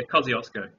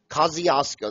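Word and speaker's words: Kosciuszko: In Australia, I cannot pronounce that name. It's a Polish name. Yeah. Kaziosco. Kaziosco.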